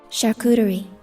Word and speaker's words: charcuterie: Charcuterie.